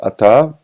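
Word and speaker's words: אתה: in parentheses as well you don't say attah you say Atta ATA okay and Atta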